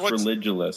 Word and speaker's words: Religulous: annoying word Religulous right it's supposed to be like ridiculous it's pronounced Religulous because it's it's it's